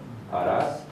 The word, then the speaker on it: Arhats: Arhats, no pronuncia la H, ¿verdad? Arhats, y maestros, mahatmas, etc.